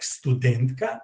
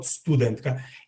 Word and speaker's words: студентка: I intentionally pronounced myself studentka because actually in this case, unlike professor, we do have the accent as a foreign word would, like studentka and not studentka.